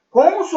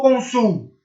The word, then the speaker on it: cônsul: Cônsul ou consul? Não, é cônsul.